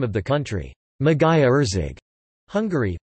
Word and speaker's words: Magyarország: The sound-voiced palatal plosive, written gy, sounds similar to d in British English duty.